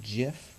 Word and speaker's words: GIF: you seen that gif GIF rather Jiff that's the correct pronunciation of like that bald